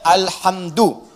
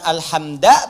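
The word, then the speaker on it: الحمد: Dibacaannya alhamdu, bukan alhamda pakai fathah atau alhamdi pakai kasrah. Ya, apa bacanya? Du, alhamdu pakai dhammah. Jadi kalau dibaca dalam salat, jangan baca menggunakan fathah alhamda atau kasrah alhamdi, tidak. Baca menggunakan dhamma.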